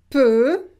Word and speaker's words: peu: Now I want to show you that when we have EU, we pronounce it E. E. Donc, par exemple, peu, jeudi, heureux.